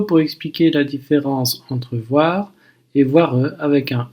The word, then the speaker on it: voire: Ça se complique évidemment avec l'adverbe voir, qui se prononce de la même manière, mais qui s'écrit avec un E à la fin.